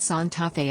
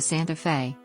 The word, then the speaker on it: Santa Fe: The standard Spanish variety pronounces it Santa Fe as contextualized within the